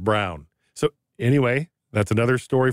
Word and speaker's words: Braun: say his name right it's spelled b-r-a-u-n but he pronounces it brown so anyway that's another